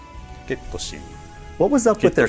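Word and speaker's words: ケット・シー: How do you pronounce this character's name? ゲットシー。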